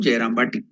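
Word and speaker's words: Jayrambati: So the real name of the village is Jayaramavati or Jayaramavati. But due to the improper pronunciation for the villages, it has become Jayarambati.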